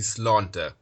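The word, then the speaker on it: Sláinte: The Irish word for health is actually slánta.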